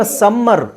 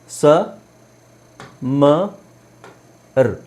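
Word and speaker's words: summer: ಯು ಎಂ ಎಂ ಈಆರ್ ಇದನ್ನ ಉಚ್ಚಾರಿಸೋದು ಹೇಗೆ ಸಮ ನಾವು ಅದನ್ನ ಸಮ್ಮರ್ ಸಮ್ಮರ್ ಅಂತ ಎಲ್ಲರೂ ಉಚ್ಚಾರಣೆ ಮಾಡೋದು ಏನಂದ್ರೆ ಸಮ್ಮರ್ ಸ ಮರ್ ಸಮ್ಮರ್ ಆಕ್ಚುಲಿ ಇಲ್ಲಿ ಇದರ ಅವಶ್ಯಕತೆನೇ ಇಲ್ಲ ಸಮ ವಿಂಟರ್ ಇನ್ನೊಂದು ಒತ್ತಿ ಸ್ಟ್ರೆಸ್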